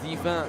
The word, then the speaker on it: Divin: You know what Divin, which would be pronounced divin in French, mean?